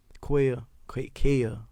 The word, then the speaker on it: Quail: Kel, it's spelled Quail, but Kel, he make beats.